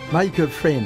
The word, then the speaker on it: Michael Frayn: La pièce de Michael Frayn, on prononce comme ça ? Michael Frayn.